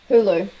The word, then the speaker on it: Hulu: We don't have Hulu. Is that how you say it? Hulu, that's it.